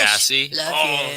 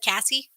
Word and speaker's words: Cassie: glad you're here thanks sassy she was in our meeting last night that was awesome it said cassie cassie yeah i totally said it wrong yeah it was awesome